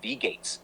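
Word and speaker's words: Wie geht's: speak German Kleiner shriber the phrase We Gates pronounced V Gates is indeed the correct and common way to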